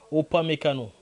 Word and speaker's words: Upamecano: Bravo à Upamecano. Je l'ai bien prononcé. Upamecano.